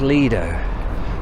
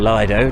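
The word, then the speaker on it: Lido: walk now this is the old leader or lied Oh depending on how you want to pronounce it and here used to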